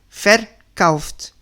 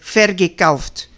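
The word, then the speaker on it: verkauft: Fercaft, no se dice fergft o beget, no, porque como no es separable el prefijo y el G no se puede meter y tampoco se puede meter adelante porque ya está ocupado este sitio, ya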